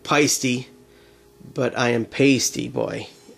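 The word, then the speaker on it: Paiste: So basically, and I know it's pronounced Paisty, but I am Paisty Boy.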